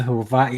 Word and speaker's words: Hawaii: I've never been to Hawaii I didn't know that the W was pronounced with a V I had no clue